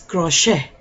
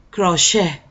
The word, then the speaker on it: crochet: si tampoco suena late es crochet crochet así es que es vale 12 crochet las 3 suena como acentuada la e pero la nana y